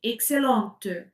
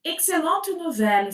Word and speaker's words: excellente: Donc si c'est féminin, je prononce le t. Excellente. T si c'est masculin, excellent. Excellent. Excellent. Excellente. Donc ici, excellente nouvelle, ça change un peu.